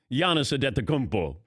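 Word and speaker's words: Giannis Antetokounmpo: take you to pronounce yana sadetta kumpo people don't understand that that it's bo not hope thank you rich reg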